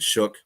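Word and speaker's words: Shough: They got to choose between Spencer Rattler and and Shook that I I don't know why you spellize his name that way, but that's what he pronounces it as.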